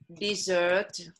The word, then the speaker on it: dessert: นะ ทะเลทราย นะ ถ้าเป็น verb, แปลว่าละทิ้ง ออกเสียง desert. Dessert. Okay. แต่ว่า What for dessert today?